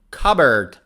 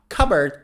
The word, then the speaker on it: cupboard: many words for example cupboard cupboard now cupboard has a silent p there's a white cupboard